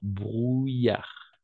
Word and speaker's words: brouillard: Brouillard. Il y a du brouillard. D'accord? La combinaison de voyelles O et U, on va toujours prononcer comme un OU. OU. D'accord? OU. Comme en espagnol. OU. Brouillard.